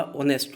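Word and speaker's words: honest: ध्यान रखना, इसमें एच जो कॉन्सोनेंट है बट इसका प्रोनाउंसिएशन ये वावल के जैसा हुआ, ऑनेस्ट हुआ, एच साइलेंट है इधर।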